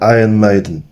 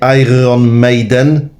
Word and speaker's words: Iron Maiden: Taj na Iron Maiden. Tak się to powinno wymawiać jakby co, nie? Iron Maiden. Iron, angielski się kłania.